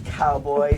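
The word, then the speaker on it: Cowboi: am I looking at um my name is Cowboy c o b o i no c o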